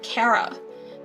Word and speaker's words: Chara: a drawing of Chara I pronounce it as Chara but I don't want to hear you like oh my God it's pronounced Cara this how I like to say Char it sounds better here's a drawing of